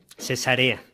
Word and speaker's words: Cesarea: Y la pronunciaste correctamente. Cesarea. Porque a veces decimos cesárea y eso es una cosa muy diferente.